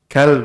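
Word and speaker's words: كلب: Kalb.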